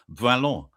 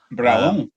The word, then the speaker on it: Brallant: It's Brallant, which is pronounced Bralon. Bralon.